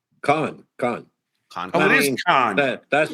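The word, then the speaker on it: Cannes: So now, is it pronounced Can or Con? Con. Oh, it is Con. That's the French. Probably. I'm partially French. You guys have to call it Can.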